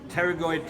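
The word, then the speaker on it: Pterygoid: have here two processes teroid processes the p is silent like pterodactyl for those that watch Jurassic Park teroid processes at the base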